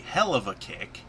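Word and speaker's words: Helluva Kick: the hellova kick is they pronounce it wrong it's supposed to be the hell of a kick as in that's a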